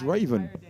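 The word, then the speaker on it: Ravn: raven now previously i called him ravin because it's r-a-v-n but as i've said before his spreadsheets have been filled in by some of the players and so he's told me how to pronounce his name and it's raven denmark terry ramsey 5am here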